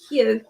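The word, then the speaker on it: Hew: Would you like to start with excuse me if I pronounce this wrong, is it Hugh, H-E-W? Yeah, I've got Hugh here. Yeah, Hugh, there we are.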